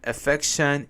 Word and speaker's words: affection: Taking care of your pet and giving them affection is also pure love. Affection, the stress is on F.